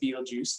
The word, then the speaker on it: Betelgeuse: So that reddish star is known as Betelgeuse, okay? Maybe you pronounce it Betelgeuse, that's fine.